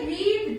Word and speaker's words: read: So what will be the second form? Read. Spelling will be same, pronunciation will be read.